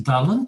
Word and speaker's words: Dylan: And It of was course, very- Angus, yes, Angus, like any other foreigner, mispronounces the poet's name. What is it? In Welsh, is Dylan Thomas.